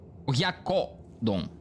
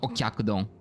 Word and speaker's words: oyakodon: Oyakodon. Sorry, not okyakudon. It's oyakodon. I always mispronounce it. I don't know why. I always mispronounce it. And it's nothing like... There's no k sound in there.